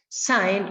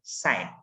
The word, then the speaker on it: sine: But anyway, okay, sine is pronounced as just like the word sine. Okay, it is not sine, it is not sin, but sine. It is pronounced.